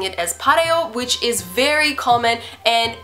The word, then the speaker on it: 바래요: However, I don't know where it came from, but for some reason, Koreans just pronounce this word as pareo.